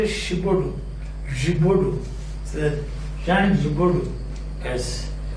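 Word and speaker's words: Giraudoux: See how is it written? G-I-R-A-U-D-O-U-X. And it is pronounced the Gibaudou.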